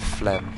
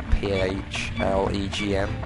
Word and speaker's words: phlegm: Phlegm. That's a really unusual word, isn't it? Phlegm. Just the way it's spelled. P-H-L-E-G-M. Phlegm.